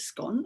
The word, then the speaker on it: scone: fascinated by the word scone because you can pronounce it scone or you can pronounce it